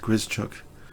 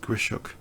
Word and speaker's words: Grischuk: Apparently his name is not pronounced Grischuk. My good friend Alex Eflontis has mentioned, but Grischuk instead.